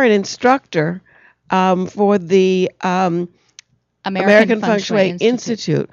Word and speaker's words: Feng Shui: And whenever you see ENG in a Chinese word, it's pronounced ung.